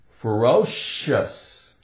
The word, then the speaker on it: ferocious: sh sh okay but in some words the C sounds like sh ferocious fero o sh sh